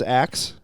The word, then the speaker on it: Aix: name that is their scientific name AIX is Axe ax yep X he said he looked up the pronunciation of it seems wrong it can seem